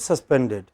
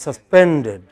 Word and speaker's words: suspended: Always make the stressed syllable most prominent. It's not suspended. It is suspended.